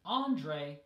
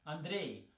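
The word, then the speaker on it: Андрей: Andre right but again an English it's Andre stress on the first syllable and in Russian it's I'm the de stress on the second syllable and the last example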